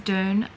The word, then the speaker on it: Dune: i would say june if i'm referring to a sand dune at the beach but apparently it's doon i don't know what